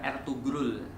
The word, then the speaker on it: Ertuğrul: Osman ini adalah anak daripada Ertuğrul, tulisannya Ertugrul, tapi orang-orang Turki itu punya G, yang G-nya itu agak-agak rahasia. Nah, jadi bacanya bukan Ertugrul, bukan Erdogan ya. Erdogan itu ya air degan gitu ya, bukan Erdogan tapi Erdogan.